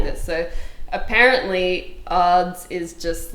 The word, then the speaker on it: Adz: to start with yeah it's pronounced odds oh what doesn't he